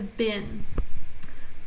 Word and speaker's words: been: of you are thinking that's being because EEE does say but this is a rule-breaker so it says been children the children happened